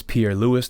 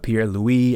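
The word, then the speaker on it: Pierre-Louis: figured out his name it's pierre lewis not pierre louis as the french pronunciation would be but he's joining the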